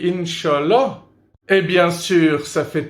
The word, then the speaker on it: inch'Allah: un petit truc inch'Allah c'est la prononciation francophone dans mon pays on dit inch'Allah et bien sûr ça